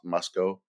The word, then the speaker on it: Moscow: Mos Moscow.